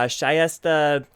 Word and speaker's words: Shayesteh: ago at uh florida intercollegiate chess tournaments uh shyesta talagani did i pronounce it right yeah excellent well thank you